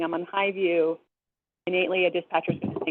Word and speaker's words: Hy-Vu: It's called Highview. I don't know if anybody's familiar with this street. It's really cute in its naming, but it's not spelled how you think it's spelled. It's HY-VU.